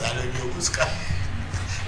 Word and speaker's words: Ayahuasca: It's not Alipina, it's Ayahuasca. Ayahuasca.